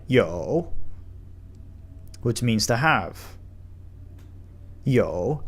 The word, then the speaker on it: 有: Yo, the third tone, a little harder to pronounce if you're just starting Chinese.